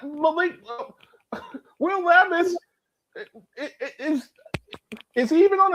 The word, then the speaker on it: Levis: Will Levis Lis I I think he's still I think it's pronounced Levis.